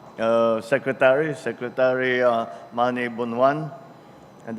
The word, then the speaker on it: Bonoan: secretary secretary uh mani bonan and that's the proper pronunciation by the way of his uh of his name it's not bonan it's bonan um uh the the proper ilokano translation uh The Honorable members